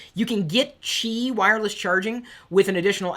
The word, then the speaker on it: Qi: And I do believe it's pronouncedqi. it. Correct me if I'm wrong. That's how I seem to remember it. You can get chi wireless charging with an